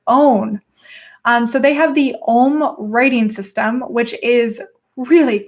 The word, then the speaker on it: Ogham: But they had their own writing system, which is, I believe it's pronounced Ohm. Correct me if it's wrong, but it's spelled Ogham.